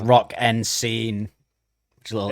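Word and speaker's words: Rock en Seine: I think it's pronounced Rock and Scene.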